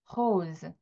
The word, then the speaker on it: rose: 그런데 발음은 이렇게 나요. rose, rose.